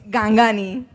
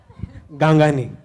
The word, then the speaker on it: Gangani: Am I pronouncing your surname right? No, it's Gangani. Gangani.